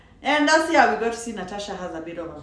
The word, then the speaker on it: Natasha: It's spelled Natasha the way I kept reading it, but it's Natasha.